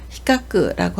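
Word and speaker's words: 比較: 비교하다를 히카크라고 하고요. 훈독으로 읽을 때는 구라베루라고 읽어서 비교하다, 견주다 라는 뜻을 나타냅니다.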